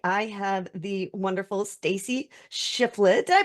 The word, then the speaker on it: Shifflett: with me today I have the wonderful Stacy shifflet did I pronounce that right you did yes okay awesome